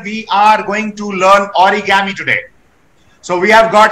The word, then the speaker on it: origami: Origami, Japanese pronunciation. Be a little louder, please. Origami, Japanese pronunciation. Origami or origami. From ori means folding and kami means meaning paper. Kami changes to gami due to rendaku.